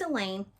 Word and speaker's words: Elaine: class or any class, and Elaine, rhymes with pain.